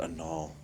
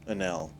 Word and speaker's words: Anel: lot of time in I almost said Anal. Inel? Anel. That's what it is, right? Yes. There we go. I was right. It was the pronunciation in my head was wrong.